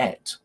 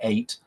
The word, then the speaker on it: ate: Notice that I'm reducing ate to et, partly because the rhythm is improved, but it's perfectly okay to say ate, but I like the word et, which is also correct pronunciation.